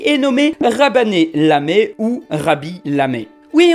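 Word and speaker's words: Khaby Lame: Oui, on est dans ce genre de cas où le KH se prononce R. Mais je suis sûr que comme moi, pas mal de gens l'ont appelé Kaby Lame.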